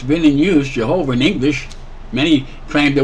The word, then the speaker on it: Jehovah: you speak Hebrew it's Jehovah way it's not Yahweh there's three syllables they've already determined that so it's Yahweh but